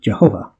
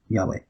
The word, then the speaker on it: Yahweh: the josephus gets to get the word jehovah but that's probably not the correct law markings it's by pronounced yahweh or something of that nature not jehovah but uh when the